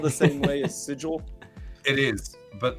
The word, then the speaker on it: sigil: Like every time I've read it, I always pronounce it that way. But I It's Yeah, it goes I call like sigil is sigil. It should never be sigle, but I the place sigle.